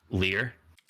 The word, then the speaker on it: Lier: gives all your spells leer disciple of the drowned how do you spell that l-i-e-r it's almost like liar almost oh that's also kind